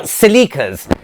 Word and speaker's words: siliqua: They are siliquas. They're spelled S-I-L-I-Q-U-A. So it's either siliqua or siliqua.